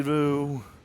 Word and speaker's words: Röhl: the day Danny Danny Rule Danny Danny Rule they all know they all know how it's pronounced daddy cool you know just in a we rip off a daddy cool and that is only